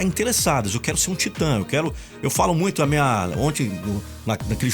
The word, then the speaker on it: Titã: Titã se escreve T-I-T-A-Tio.